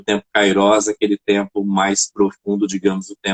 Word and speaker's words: kairós: tempo kairós é que algumas pessoas pronúncia kairos mais eu fui fazer uma pesquisa mais a fundo é kairós não é a pronúncia correta e aí me chamou